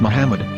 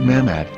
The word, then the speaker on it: Muhammad: yehuda's Hebrew English dictionary it is correctly pronounced as Muhammad not mahmet so how we're going